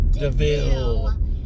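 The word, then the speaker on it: De Vil: funny when he's like, this car is named Devil, and then he's like, it's pronounced Deville.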